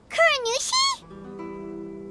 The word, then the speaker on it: Kuronushi: Kuronushi?